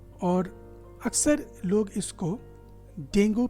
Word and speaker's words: Dengue: Actually डेंगू जो pronunciation है वो 3 पार्ट्स में किया जाता है। पहला पार्ट है डेन, दूसरा ग एंड ऊ, तीनों मिलके हो जाते हैं डेंगू।